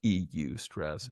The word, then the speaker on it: eustress: Not y o u stress, but e u stress.